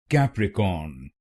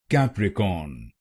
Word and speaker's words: Capricorn: Its correct pronunciation is capricorn. capricorn. This word has three syllables. cap recorn. cap recorn will become capricorn. capricorn and here you have to put stress on the first syllable.